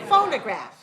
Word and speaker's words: phonograph: right full nerve graft phonograph so the second syllable is reduced reduced reduced all right so make careful be careful not to say phono say phone phonograph all right so make